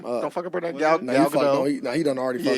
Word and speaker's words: Gadot: Gal Gadot. Now he done already fucked it up. He butchered it. G-A-D-O-T, right? Yeah, but it's Gadot. We gonna say Gadot.